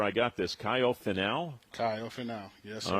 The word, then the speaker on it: Kaio Finau: Kaio Finau, yes, sir.